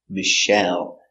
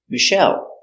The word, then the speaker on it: Michelle: ice cream very good the name Michelle comes from French so we pronounce it Michelle Accent on the second syllable Michelle Michelle Obama was the first